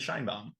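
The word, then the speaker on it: Sheinbaum: Did I pronounce her name correctly? Probably not. No, it's President Scheinbaum.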